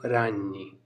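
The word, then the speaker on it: ragni: और बहुवचन है, एक से अधिक है, जैसे मकड़ियाँ तो रान्नी। जी हमेशा साइलेंट रहता है ज़्यादातर वर्ड्स में, तो रान्यो रान्नी इस तरीके से हम बोल सकते हैं मकड़ियाँ।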